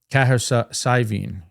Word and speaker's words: Cahersiveen: And how do you Arguably pronounce the that best town pint. again? I've been saying Cahersiveen. Cahersiveen.